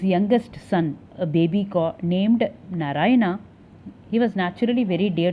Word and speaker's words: Narayana: So, Narayana, pronounced as Narayan, is the name of